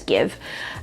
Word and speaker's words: GXVE: it's called Give Beauty, but it's written as GXVE, but I've heard it being pronounced as Give.